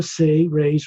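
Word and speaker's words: Seres: He is a member of the Say-Rays race, S-E-R-E-S, pronounced as if it sounds like S-A-Y-R-A-Y-S, Say-Rays.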